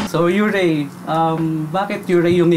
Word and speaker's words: Yūrei: Pero ang tama talagang pronunciation niya, Yūrei.